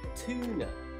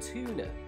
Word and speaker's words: tuna: But that is not the correct pronunciation in Britain. It needs to be a long vowel U sound, so U, such as tuna, tuna, so not tuna, tuna, and duty, duty, not duty. That's the American pronunciation.